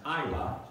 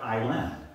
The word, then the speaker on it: Isla: to clarify avery and isla is pronounced isla just like island think of it that way just take the the nd off it's isla and that's